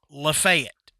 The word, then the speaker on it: Lafayette: like oh yeah yeah it's that's how they pronounce it okay about 45 minutes north of me is a town that everybody calls lafette okay if we were in Louisiana it would